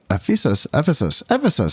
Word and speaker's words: Ephesus: Roman settlements of Ancyra, Ephesus, that's how you say it, and then Constantinople, maybe as well.